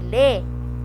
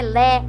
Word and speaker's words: lê: Pô e lê, ele é fechado, ele não é lé e nem pó.